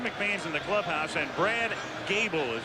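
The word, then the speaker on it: Goebel: philadelphia nothing pat ryan's in the game jim mcmane's in the clubhouse and brad gable is how it's pronounced a rookie free agent who played at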